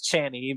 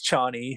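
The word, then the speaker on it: Chani: mind off so so I used to pronounce ch's name as channy but now I'm trying to remind myself that it's Chie so Paul's pretty easy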